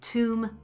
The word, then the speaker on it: tomb: Comb, tomb, bomb. O, oo, ah.